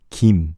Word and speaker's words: Kim: You could say it Kim. Technically, that's correct in English. But what I tell you, how do you pronounce Kim in Korean? Is Kim. Kim. Kim is the right way to pronounce Kim last name.